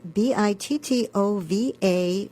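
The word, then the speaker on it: Bittová: So that's Eva and Bittova with the accent on the A.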